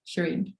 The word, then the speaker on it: Shirin: ACC wrong part yeah people say Shireen Sherin like there's different ways to pronounce that name but I've always said Shireen I like that very